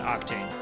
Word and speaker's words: Aktane: When I wrote my username on a piece of paper, like when I was in high school, I pronounced it AKTANE. Yes. I knew it. Damn you. Well, it's like AKTANE. When I recognize it, it's like AKTANE, like Abhishek.